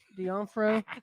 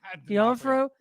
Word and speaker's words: D'Onofrio: D'Onofrio. D'Onofrio.